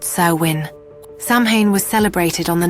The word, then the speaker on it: Samhain: We have to go back to over 2,000 years ago to the Celtic festival of Samhain, pronounced Samhain.